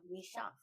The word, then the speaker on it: Michaux: Michaux, right?